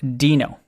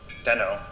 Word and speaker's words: Deno: is it dino or deno the answer it's pronounced dino and here's the proof yeah so uh we're